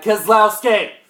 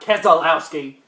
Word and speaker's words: Keselowski: heard him for because his name is Brad keslowski not Keselowski there is Keselowski keslowski there's three syllables not four one two three one two three four there is a difference